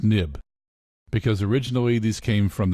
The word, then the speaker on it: xib: and created OS X they changed the end to an X but they still pronounce it nib and finally you use